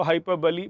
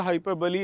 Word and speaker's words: hyperbole: तो हाइपरबली बेटा, हाइपरबली इज the correct pronunciation. बोली नहीं होगा, हाइपरबोल नहीं होगा, हाइपरबली इज the correct answer.